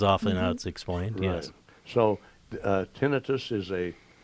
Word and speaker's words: tinnitus: there's an inflammation and it's not necessarily tinnitus it's tinnitus is the correct pronunciation but it just means